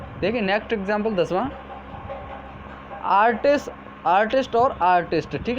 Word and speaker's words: artiste: इसका pronunciation आर्टिस्ट ही होगा दोनों का, ठीक है।